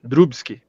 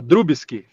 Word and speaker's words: Drubski: A pronúncia foi correta ou não? Correta, Drubski. Drubski. Pronuncia o B. Não vai errar mais. Pronuncia o B ou não fala o B? Drubski. Não, fala Drubski.